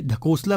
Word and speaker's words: ढकोसला: ठीक है, अब देखिए ढकोसला बिल्कुल सही प्रोनाउंसिएशन में कर रहा हूँ, तो ये ढकोसला नहीं होता, ढकोसला होता है।